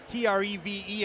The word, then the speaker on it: Treve: One correction, I've been mispronouncing Treve Stoffel's first name all year. Treve on the scorecard. Here I thought it was short for Trevor. It's actually pronounced Treve.